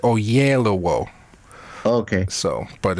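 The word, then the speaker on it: Oyelowo: that pronunciation now oh it's really simple o yellow o so it's O yellow in in between and then o at the end o yellow o yeah okay and if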